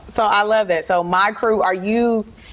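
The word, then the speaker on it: Mikru: Yeah, so my new endeavor is my fashion line called My Crew Clothing. It's spelled M-I-K-R-U.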